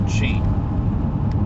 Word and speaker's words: qi: And my understanding is that it's the same thing that the Chinese call qi, sometimes pronounced gi, and that this would be an example of something along those lines.